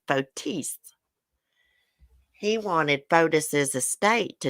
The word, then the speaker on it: Fotis: lawyer dumbass norm pattis even though fodis is dead actually you pronounce his name fotis he wanted foldus's estate